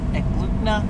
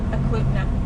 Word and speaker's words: Eklutna: Today we just decided to make a last minute go camping in Eklutna. I'm saying it wrong. Eklutna. Eklutna? Eklutna. Okay, that place.